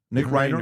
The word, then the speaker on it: Reiner: Nick Reiner.